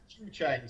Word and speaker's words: Zhucheng: Zhucheng. So it's Chinese pronunciation of English characters. So ZHU is kind of Jew or Jew.